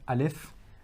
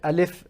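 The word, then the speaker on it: ا: Now, when we are looking at alif and ha and hamza, okay? When we're looking at alif and hamza, please note that these two are pronounced from the bottom of the throat, okay?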